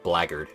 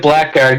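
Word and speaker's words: blackguard: somehow the blackard yes it's spelled Black Guard but it's pronounced blaggard that's a weird word uh that's English for you yeah well I'm still calling it Black Guard because it actually sounds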